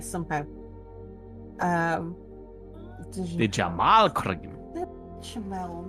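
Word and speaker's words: béchamel: Bechamel, not Dijamel.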